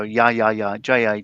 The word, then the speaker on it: ja ja: That people from the Spanish speaking world go ja ja instead of ha ha. Yeah. Well, the J would be in what we write as a J would be pronounced as an H in Spanish.